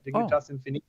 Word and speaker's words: Dignitas Infinita: How am I doing on my Latin pronunciation? Is it just horrible to your ears? Oh, you did it exactly right. Dignitas Infinita. It's perfect. You did it. You pronounced it perfectly.